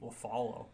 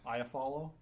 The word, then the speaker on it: Iafallo: LaFallo. Iafallo? That's an I, not an L. Shit, I've been saying it wrong for years then.